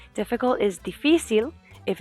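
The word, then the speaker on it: difícil: used to the fil the reason why it sounds like that is because we have to emphasize the I there's an accent over the I so we emphasize that syllable difficult is defil if it's plural noun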